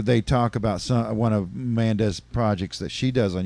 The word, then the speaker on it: Manda: This is Manda with an M. Not Amanda. We're not misspelling it here on JOKERJOKERtv. We're not mispronouncing it. It's Manda.